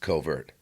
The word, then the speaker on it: CVRT: The result is the CVRT3775A, pronounced covert.